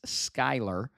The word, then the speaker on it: Skyler: I know how to pronounce her now. I was informed. It's Skyler. Skyler you want to unlock as well.